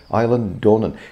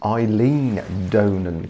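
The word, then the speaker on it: Eilean Donan: is in the western highlands island castle aye island dornan now it's not that we know how to pronounce it but i spoke to a really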